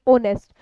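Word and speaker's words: honest: Pronunciation क्या होती है, इसकी प्रोनाउंसिएशन होती है ओनेस्ट। जब ओनेस्ट बोल रहे हो आप इसको तो साउंड कैसी हुई यहाँ पे, ओनेस्ट बोलोगे तो ओनेस्ट में साउंड किसकी आएगी, वावल की आएगी।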